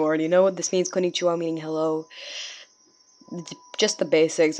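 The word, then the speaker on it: こんにちは: So we have to go konnichiwa, and then you can do hand symbols if you want.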